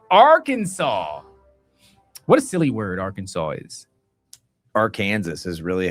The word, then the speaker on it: Arkansas: What a silly word Arkansas is. Arkansas is really how it should be pronounced.